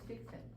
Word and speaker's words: fixed: es que, como dijimos, la letra E es muda, entonces a veces no alcanzamos a distinguir porque se oye un poquito apagada la pronunciación. Followed. Muy parecido al Se presente. oye como si fuera presente.